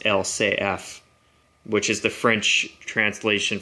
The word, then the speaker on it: LCF: it as LCF but in French they pronounce it as L say F which is the French